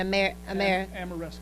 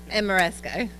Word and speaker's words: Ameresco: Pepco Pepco Pepco and amesco ameresco I keep mispronouncing that yes sir 15 years